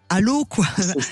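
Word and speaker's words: Allauch: Allô quoi ? Mais ça s'écrit A 2 L A U C.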